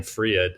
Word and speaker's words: Fred: So my last name, Fried, it's pronounced in English Fred, but it's Swedish.